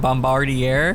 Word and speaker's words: Bombardier: locomotive today with uh i think their bombardier i think that's how you pronounce it bombardier we have uh those